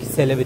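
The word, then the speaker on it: Celebi: sonrasını devam ediyorum ve Çelebi gelecek selebi diye okunuyormuş Sanırım selebi gelecek Shin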